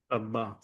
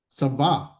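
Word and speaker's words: צבא: Basically, the accent is still over here. It's sa va. The the the V sound because it's not doesn't have the doggish in it, so the softer sound.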